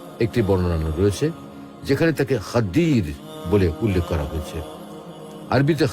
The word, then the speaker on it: খিজির: এই খাদির শব্দটিকে সহজ উচ্চারণে বাংলায় খিজির বলা হয়।